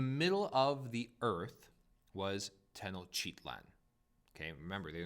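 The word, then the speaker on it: Tenochtitlan: to talk about is the capital city tennochitlan and i did say that one correctly i've been saying this one for a very long time on a regular basis so that is how you say it chitland and um there's a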